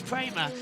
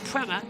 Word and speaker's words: Prema: we we all know it's prer but will buckon to appear an audience that said Prema a lot of the time but it's prer prer not pra prer just because Americans can't do two syllables there is cot as